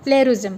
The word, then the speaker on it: plagiarism: सो अगर मैंने इसका प्रोनाउंस अगर आपको सामने करके दिखाती हूँ तो इसे हम इस तरह से लिखेंगे PLAY प्ले, फिर GAUH RI और ZM प्लेरिज्म.